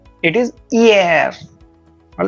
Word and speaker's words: hier: Hi is giving the sound of e. All right. E, air. The one It is a similar pronunciation related to parler.